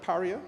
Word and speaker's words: Paria: from the Gulf of Paria. Is that correct pronunciation? Paria. I don't want to say they are Pariah, because that's a different thing.